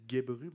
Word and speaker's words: Gebru: Puis d'ailleurs, si ça vous intéresse, il y a un article qui a été publié là-dessus par Timnit Gebru, c'est comme ça qu'on prononce son nom de famille.